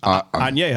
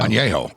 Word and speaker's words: añejo: How's it pronounced? Añejo. Añejo.